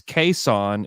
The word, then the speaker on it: Cason: we say his name but it's caisson is the is the correct way to say it now those are his